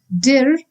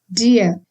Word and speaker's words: dir: Similarly, dir is not dir, like in English, but then dir.